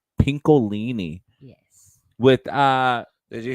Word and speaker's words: Pincolini: how do you say your last name pinkini pinkini yes with uh did you hear Dallas this